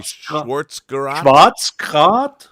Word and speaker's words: Schwarzgerät: How do you say Schwarzgerät?